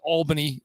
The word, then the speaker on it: Albany: So the best part about Steve and I that we go back to his time in the American League, and it's pronounced Albany, just in case for those from New York.